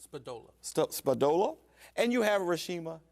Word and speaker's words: Spadola: Spadola.